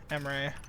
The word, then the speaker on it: Emre: It's spelled E-M-R-E, Emery.